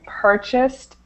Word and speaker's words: purchased: this one here okay we don't add that extra syllable so this should be purchased items purchased purchased and then this one